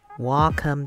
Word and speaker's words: Wacom: tip i just found out so this is welcome tablet yeah a lot of people were um